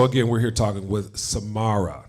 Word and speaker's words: Samara: So again, we're here talking with Samara. Did I say it right? You did. Samara, Thank you. just like the singer.